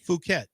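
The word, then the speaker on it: Phuket: Here is the the monk is from You tell me how to pronounce this. P Hu K T. Fuket.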